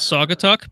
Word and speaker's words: Saugatuck: wrong it's Saugatuck no it's a weird case where it's pronounced pretty much how it looks it's actually pronounced like